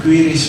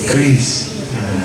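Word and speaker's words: QRIS: saya pernah dikoreksi juga bukan quiris Pak tapi yang benar ituis Kris lebih mudah aja Kris walaupun pakai Tapi bacanya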